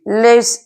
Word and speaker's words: Lewis: तो आज हमारा एसिड बेस का लास्ट टॉपिक बाकी है, लुईस एसिड। लेविस एसिड, उसको तो वैसे लेविस एसिड भी बोलते हैं, उसका स्पेलिंग के अकॉर्डिंग